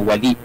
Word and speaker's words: Wālī: Usually kasi ito'y binabanggit ng karamihan na wali. Ang tama ho ay Office of the Wali of Bangsamoro.